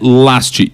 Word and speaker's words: Lajst: Insta e Twitter, arroba Last.